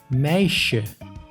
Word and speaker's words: meisje: S plus J makes sh, like in meisje, which means girl.